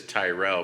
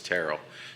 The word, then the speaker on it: Terrell: said it's like Carol, so we have. But everybody says Tyrell, but it's Terrell.